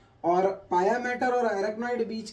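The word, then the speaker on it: pia mater: है अभी and then पाया मैटर इज the delicate लेयर सबसे ज्यादा डेलिकेट लेयर जो होती है वो पाया मैटर होती है पिया मैटर भी कोई प्रोनाउंस करता है तो पाया मैटर ड्यूरा ड्यूरा मैटर जो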